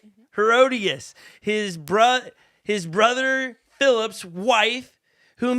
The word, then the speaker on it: Herodias: And he did this because of Herodias. Did I say it right? Mm-hmm. Herodias, his brother Philip's wife, whom he married.